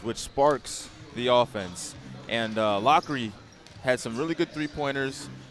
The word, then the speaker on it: Lockery: We called him Lowry, and it is pronounced Lockery, and we appreciate the clarification on that.